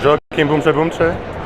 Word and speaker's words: Joaquim Boumtje Boumtje: The The correct pronunciation pronunciation of Joakim Boumche Boumche, let me just Let's Let's hear it from him himself. My name is Joakim Boumche Boumche.